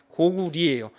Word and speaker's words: 고구려: 그래서 우리가 알고 있는 고구려의 려자가 사실 리자 발음이라는 거 아시는 분들은 아실 겁니다. 고구리예요.